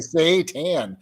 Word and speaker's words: seitan: so i just said say yeah you say say tan i say spaton oh i know all right